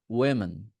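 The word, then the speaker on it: women: সেখানে তো অনেকজন ছিল তখন বলতে হবে উইমেন উইন উইমেন উই তখন আর ও না ওয়ে উই মেন উইমেন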